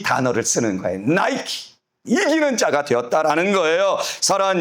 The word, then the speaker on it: Nike: 나이키. 이 나이키. 원래 여러분 이게 헬라어로는 니케 돼 있는데 영어식 발음으로는 나이키.